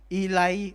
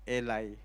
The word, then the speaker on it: Eli: Yung high priest po noon, ang pangalan po niya ay Elay or Eli. Pero agag pinakinggan niyo po sa audio bible, ang pronounce nila is Eli.